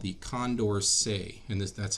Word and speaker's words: Condorcet: we're going to talk about it's called the condor say and that's how this weird word right here is pronounced it's named after the mathematician who studied